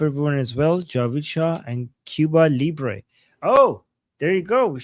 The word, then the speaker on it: Cuba Libre: So, right now we have Amazia, Long of America, uh Cuba Libé, Libé. Am I pronouncing it right? Cuba Libre and then Javicha and Pandera.